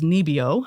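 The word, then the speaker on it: NIBIO: is uh abbreviated as nebio um that's how it's pronounced in Norwegian and they are essentially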